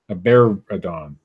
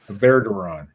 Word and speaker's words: Aberdaron: escaped from her home in Aberdaron earlier this month. I don't know. That's probably mispronounced. Aberadon. No, I'm sure that's perfectly fine, Steve. Aberdaron. That's it.